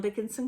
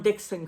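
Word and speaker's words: Dickson: I'm reading The Plague Court Murders, and this is by John Dickinson Carr. John Dixon Carr. I always want to add that extra syllable.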